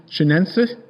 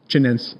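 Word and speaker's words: chinense: Canuum which is most of the sweet peppers that we grow and then c ftessins and c chenens I'm not pronouncing that right. Say chenen cheninsense. That's good.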